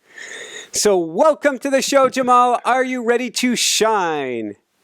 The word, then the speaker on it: Jaimal: Um our name my name looks like Jaimal which uh but it's pronounced Jamal Yogus and Yogus is a